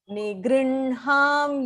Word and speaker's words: निगृह्णां: तपां यहमहं वर्षम् Nigrinham yutsrijami cha. निगृह्णां युत्सुजामि च. You have to flip the pronunciation here. So nigr ich na irukku illaya. You have to flip it as nigr in ha.